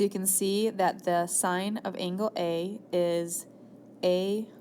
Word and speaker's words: sine: your calculator has a sign button and it looks like s i n so maybe you've seen that you've been calling it sin all these years it actually is pronounced sign so the sign of